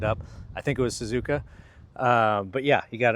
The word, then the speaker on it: Suzuka: I think it was Suzuka.